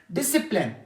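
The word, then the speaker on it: discipline: क्वायर मी जरूरत कौन डिसिप्लिन डिसिप्लिन यहां प सी क्या है साइलेंट फिर क्रेंट क्रेसें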